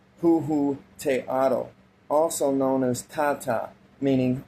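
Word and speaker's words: Huehueteotl: We can find the same god worshipped by the peoples of ancient Mexico under the name of Huhuteotl, pronounced Huhuteotl, also known as Tata, meaning our Father.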